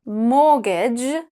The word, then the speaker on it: mortgage: Mortgage, and chestnut. Doesn't matter how you pronounce it, you still have to pay it though.